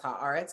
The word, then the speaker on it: Haaretz: One of my deep, I will never understand people's inability to pronounce Haaretz correctly, which has and every non-Jewish Middle Eastern correspondent calls it Haaretz.